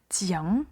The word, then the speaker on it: tiens: Au singulier, nous allons avoir le son nasal, tiens, je tiens.